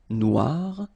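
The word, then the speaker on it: noire: So it's quite funny because you will have to add this uh at the end of noir for the feminine form but then you don't pronounce it.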